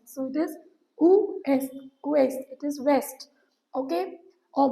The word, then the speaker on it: ouest: Otherwise we do not pronounce the last word, but in ouest we pronounce it. So it is ouest.